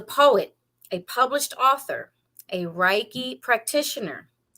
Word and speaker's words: reiki: your life coach now i said reiki but that is you could say reiki its the westernized chinese version you could also say reiki its the japanese proper pronunciation so it's either either way it's kind of like tomato tomato but you're saying the same thing so you're all fine